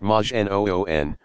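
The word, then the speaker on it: majnun: a prophet but just another Madge a nun pronounced Majin oon one possessed by a jinn to call someone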